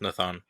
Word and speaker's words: Nathan: forth Choice once uh Nathan or nathon comes back and is healthy is that how you say it uh in Portuguese yeah it's Nathan oh okay okay yeah